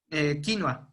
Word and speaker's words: quinoa: llaman hoy hay like quinoa no y de hecho la pronuncian más parecido a como lo pronuncian los guaraníes este los brandys perdón los este disolver los que ellos quinua vale aquí en méxico pensemos